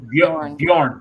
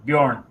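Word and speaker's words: Björn: I know Yeah, it's Bjorn. Bjorn. Yeah. Bjorn? Okay. Bjorn. Yeah, the J is silent when you're saying it.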